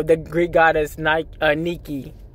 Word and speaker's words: Nike: the it's pronounced Nikki not Nike however this is okay